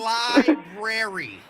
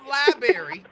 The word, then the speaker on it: library: deal with it emmanu Library see not liary I know how to